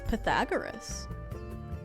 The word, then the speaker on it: Pythagoras: It's Pythagoras. I have this issue with Greek Like I pronounced I think I think most people say